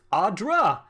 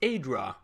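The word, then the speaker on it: adra: horribly awry now I just learned that it's pronounced Audra hi I think I spent the entire playthrough of the first game saying it's a draw that's fine made a nice story you fixing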